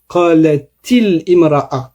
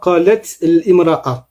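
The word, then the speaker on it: قَالَتِ امْرَأَةُ: à entendre, eh bien, on va dire qalatil imra'a et non pas qalat imra'a.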